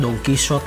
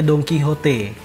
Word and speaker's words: Don Quijote: Kalau misalkan Singapura tuh seperti Mustafa lah, awas kepleset ya, banyak orang bilang Don Quixote lah, Don Quijote, Donki yang benar cara bacanya Don Quijote ya kan, nama pahlawannya Spanyol.